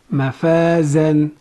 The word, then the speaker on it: مفازًا: Za is a light letter, it has fathatain on top of it, it is followed by alif and this alif is silent.